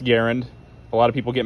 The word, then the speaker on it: Garand: devised the m1 garen first fact is it's pronounced garen a lot of people get mad when i call it grand i'm american so i speak american and i